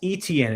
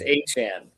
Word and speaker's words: Etienne: It's not Travis Etienne anymore, it's Travis Etienne. Travis Etienne.